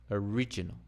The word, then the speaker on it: original: sound or complete sound what about this one original original original now the stress has changed from the o to the r now the O is no longer but it's uh it's gone it's being reduced again down to the schw original original origin origin